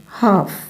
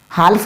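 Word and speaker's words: half: अब यहां पर देखो हाफ हाफ हाल्फ नहीं होगा हाल्फ नहीं होगा क्या होगा हाफ हाफ आप टन समझिए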